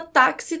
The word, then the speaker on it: táxi: fonemas apenas a taxi a palavra taxi com 4 letras t ax e mais cinco fonemas aqui é o contrário